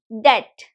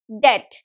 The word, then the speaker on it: debt: back you call it debt debt and remember the B is silent here so it's debt it can be either